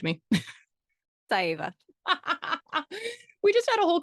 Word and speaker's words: Saieva: I'm like, you only can have 2 syllables or two vowels before you have to put a syllable in them.